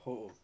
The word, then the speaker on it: Ho-Oh: How do you pronounce it, Joe? Ho-Oh.